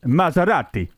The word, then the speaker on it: Maserati: It's Maserati. Not a stupid noise you just made.